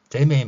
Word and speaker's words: 이재명: 이재명 대통령 같은 경우에 경상도 발음을 보면 경상도 분들은 아마 쉽게 이해할 수 있을 것인데 이제 일상생활에서는 이재명이 발음보다는 이재이 재메이 말이야 재메이가 이렇게 표현합니다. 메이라고 명을 메이로 발음하는 거 여러분들 한번 관심깊게 보시고요.